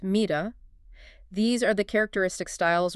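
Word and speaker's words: מידה: And in the singular it's mida pronounced mida.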